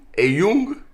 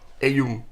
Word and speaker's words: Eyum: Eyung, très bien prononcé. Eyum. Eyum. Oui. Avec un M ou un G ? Avec un M à la fin.